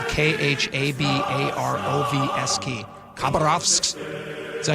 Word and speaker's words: Khabarovsk: I can't pronounce the name, but it's spelled Khabarovsk. Khabarovsk. Is that how you pronounce it? Khabarovsk.